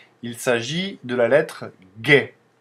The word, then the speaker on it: Г: avec cette lettre là on peut faire que G comme gâteau par exemple c'est la